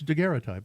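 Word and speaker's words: daguerreotype: say that and I look at it, dgeray type. It's dgeray type.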